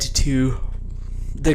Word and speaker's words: Thoth: Emerald Tablet was tied to the god Thoth. Some people say his name's Toth. I say Thoth because that's how it's phonetically spelled and how I was taught.